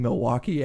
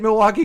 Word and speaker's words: Milwaukee: But fucking crowds just chant Milwaukee because there's 3 syllables in it.